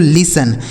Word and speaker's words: listen: इसे पढ़ेंगे दोस्तों लिसन। यहाँ देखिए जो यह टी लिखा गया ना दोस्तों, यह साइलेंट है, मतलब इसका उच्चारण हमें नहीं करना होता है।